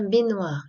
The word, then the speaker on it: baignoire: On dit bien baignoire, et non pas j'arrive même pas à le dire. Impossible à dire. Impossible à prononcer. D'accord? Cela vient de baigner. Ça s'écrit GN aussi, la baignoire. Par contre, il n'y a pas le son NIE.